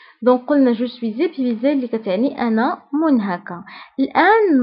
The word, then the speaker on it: je suis épuisé: وممكن نقول أيضا je suis épuisé. فهنا كنقوموا بلا ليزون كنقولوا جو سوي زيبويزي.